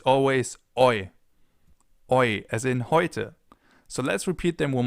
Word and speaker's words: heute: And last but not least, we have Oi, a combination of the German E and the German U, so E and U in English. E plus U ergibt Oi, as in heute, for example, today, heute, or Leute, guys, Leute.